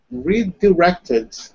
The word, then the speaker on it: redirected: redirected. Hmm. So when you say it, it sounds like redirected.